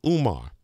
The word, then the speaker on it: Umar: Wednesday and our doctor today is Dr Umar did I pronounce it right yes right that's right he's